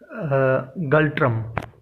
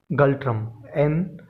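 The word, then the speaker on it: ngultrum: भूटान की करेंसी है गल्ट्रम। ठीक है। इसकी स्पेलिंग आप चाहें तो नोट कर लें, गल्ट्रम, GULTRUM, गल्ट्रम। ठीक है। एन साइलेंट है यहाँ पे, गल्ट्रम।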